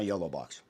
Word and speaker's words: YOLO box: The yolo box.